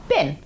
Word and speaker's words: been: back in the uk careful with pronunciation when we say bean in a sentence it becomes been she's been to paris